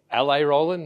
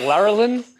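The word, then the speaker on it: Rowlands: I'm rolands uh the way to pronounce my name is La Roland not Larin uh and I'm the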